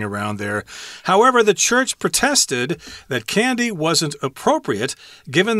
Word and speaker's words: protest: or whatever uh they protested or you could say protested I think the American pronunciation of the verb is protested whereas in England they'll say protest as the verb form but the church